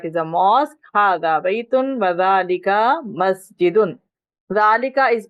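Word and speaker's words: ذٰلِكَ: Hada baytun wa dhalika masjidun. Dhalika is pronounced dhalika, इसमें अलिफ लिखा हुआ नहीं है,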